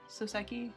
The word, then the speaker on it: Soseki: How are you pronouncing Soseki? it? Soseki?